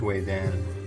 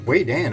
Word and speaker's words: Vedan: I bet you it is Wei Dan. So if you wonder, Wei Dan, I've never heard of that. It's actually spelled like we would say it, Vedan, V-E-D-A-N.